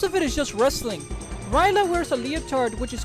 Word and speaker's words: Rila: name is clearly european her name is spelled rila but is pronounced ryla her last name means